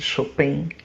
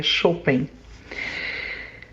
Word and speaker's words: Chopin: Bom, os músicos que, digamos assim, mexem comigo são Beethoven e Chopin, ou pela maioria aqui no Brasil chama de Chopin, mas a forma correta da pronúncia do nome dele é Chopin.